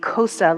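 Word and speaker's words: Xhosa: This is from um the Kosa language. I think that's how you pronounce it. X H O S A of South Africa.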